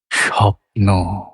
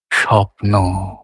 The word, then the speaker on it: স্বপ্ন: স্বপ্ন স্বপ্ন মানে নটাও কোমলেই উচ্চারিত হচ্ছে। কিন্তু নটটা নিচে হচ্ছে। সবটা উপরে হচ্ছে।